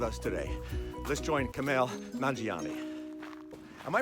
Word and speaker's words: Nanjiani: what last time and I say Nanjiani I say it sounds Italian Nanjiani and they always remember